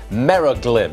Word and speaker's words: Meraglim: Meraglim. Meraglim? Meraglim Holdings. Meraglim. Is that how you pronounce it? That's right, sir.